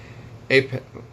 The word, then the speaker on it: Epoch: Customs and Border Protection during the Trump administration, told the Epoch Times, even though this is what it sounds like when you pronounce the word epic, even though that's not how it's spelled.